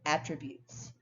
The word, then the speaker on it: attribute: teacher has many positive attributes here attribute is is a noun in number nine however ATT tribute spelled the same way but with a different stress pattern andz attributes her success